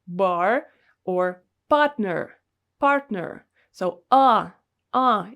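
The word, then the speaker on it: А: same as english letters the first one is a letter ah ah it's quite easy to remember especially because it looks like an english a and it sounds almost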